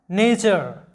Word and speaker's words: nature: এরপর দেখো নেচার, NATURE নেচার। এটাকে তোমরা নেচারও বলতে পারো, তবে নেচার হচ্ছে শুদ্ধ উচ্চারণ, নেচার, নেচার।